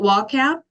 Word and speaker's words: WAP: that pronounced is it is it pronounced like an acronym or is it actually WAP we call it WAP and WAP stands for